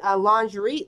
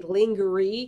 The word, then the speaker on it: lingerie: Amy tried using a lingerie lingerie bag in the washer for summary every time I see the word lingerie I say linger E because this house broke phonetically I hate the Etta